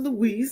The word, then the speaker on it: Louise: Louise. I always say Louis. Louise Norton. I always want to say Louis.